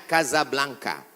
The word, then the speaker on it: Casablanca: kuliah nama negaranya Maroko ibukotanya tulisannya Casablanca cara bacanya Kasablanka Kaza artinya rumah Blanca